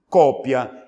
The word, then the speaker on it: cópia: palavra aqui ó copia Se eu colocar um acento na sílaba anterior de copia não fica mais copia fica agora como cópia Ela é portanto uma